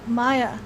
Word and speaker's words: Mayja: whoa world of uh maya okay so maya and that's how it's pronounced i know there's a j in there uh but think of it as a yacht in uh spanish but it's interesting the